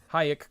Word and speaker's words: Hayek: you hear him tell how to properly pronounce his name like high explosives alex winter let's do